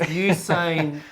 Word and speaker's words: Usain: Yeah, I think most people, it's hard to pronounce his name. It's Usain.